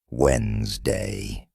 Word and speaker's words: Wednesday: of words for example you might see the word Wednesday and think it's pronounced exactly as it's spelled but listening teaches you it's actually pronounced Wednesday this helps you speak